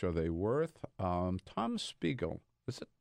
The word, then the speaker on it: Spiegel: they worth um Tom Spiegel listen the pronounce it correctly you got pickles pickles like wiggle with an SP we go I'm Spiegel